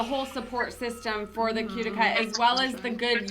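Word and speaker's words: Qtica: We say Cutica.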